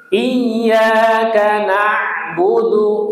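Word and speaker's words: إِيَّاكَ نَعْبُدُ: Iyyaka na'budu yo. Iyaka na'budu. Nah, ini penekatan penekanannya di tasdid.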